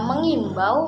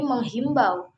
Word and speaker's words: mengimbau: Nah, kata ini seringkali salah dalam pengucapan dan penulisannya dari yang sebenarnya mengimbau menjadi menghimbau. Nah, itu seringkali salah.